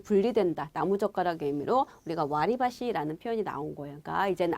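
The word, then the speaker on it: 割り箸: 와루바시. 그쵸? 우리는 와루바시 이렇게 외우잖아요. 그쵸? 근데 정확한 발음은 와리바시예요, 여러분. 와리바시.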